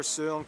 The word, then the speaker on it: Søren: Hans Christian Andersen, philosopher Søren Kierkegaard, or whether... That's actually how you pronounce his name. Wow. It's not Soren Kierkegaard.